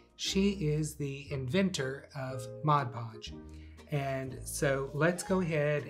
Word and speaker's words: Mod Podge: is the inventor of mod podge and so let's go ahead and thank Jan for creating this great product and let's talk about how to say it it is Mod Podge now the other voice